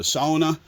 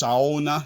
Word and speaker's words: sauna: And then as we head to the back, we enter the sauna. Notice how it's pronounced sauna, not sauna.